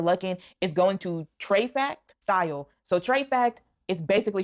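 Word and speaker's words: Trefac: The next place you might have your luck in is going to Treyact Style. So Treyact is basically short for Treasure Factory. So it's spelled T R E F A C and then it's style.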